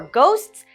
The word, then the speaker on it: ghost: an F F sound for our final GH sound we have a hard G for ghosts do you believe in